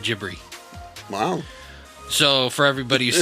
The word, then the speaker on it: Ghibli: And for, if they are wanting to be purists about it, then Ghibli is even wrong. Because in Japanese, the GH makes a soft J sound.